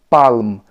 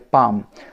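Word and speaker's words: palm: долоня на англійській Молі мові палм а читається як пам ну асоціація допомагає нам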